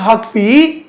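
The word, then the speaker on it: Huckabee: இப்போ இஸ்ரேலுடைய அமெரிக்க செயலாளர் மைக் ஹாக்பி, அவர் பேரு சரியான உச்சரிப்பு ஹாக்பி தான்.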